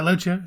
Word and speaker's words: Loggia: Raymond, played by, I'm going to say his name wrong, is it Robert Loggia? Yeah, Loggia, that's right.